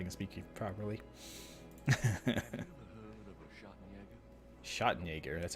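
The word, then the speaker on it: Schattenjäger: drama if I can speak to you properly shot Jaeger that's how you say it my German is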